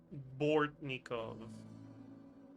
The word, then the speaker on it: Bortnikov: Bortnikov, that's how you're supposed to pronounce his name.